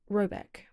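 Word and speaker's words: Råbäck: The manor house, or hergård, in question is to be called Raback, pronounced something like Robeck, though that is not its name.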